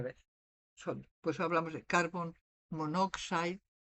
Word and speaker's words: monoxide: Y muchas veces, y esto funciona mejor en el inglés, por ejemplo, correctamente deberías decir monooxide, pero cuando lo pronuncias no dices dos O's, lo combinas en monoxide.